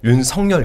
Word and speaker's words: 윤석열: 근데이 그 윤성열이 제가 이제 발음을 할 때 윤성열 이렇게 발음을 하거든요. 예. 네. 근데 이제 대부분 윤석열 이렇게 발음하잖아요. 뭐가 맞나요? 그니까 아 이거는 한자로 보면 윤석이 맞는데 그 얘기를 하더라고요. 본인이 이제 원하는게 윤성열로 들리길 바랬다고.